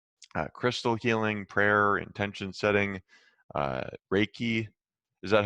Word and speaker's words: Reiki: you also include crystal healing, prayer, intention setting, Reiki. Is that how you pronounce that?